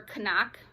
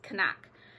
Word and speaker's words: CNOC: I will be carrying the cnoc or Canuck actually is the pronunciation don't ask me I I Googled it and went onto their website it's Canuck any use I'm using the